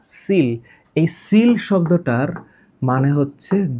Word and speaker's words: coel: ওই যে seal, COEL, seal, উচ্চারণটা কোয়েল না, সিল।